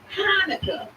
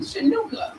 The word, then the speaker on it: Hanukkah: Like the CH in Hanukkah is sounded out to ha.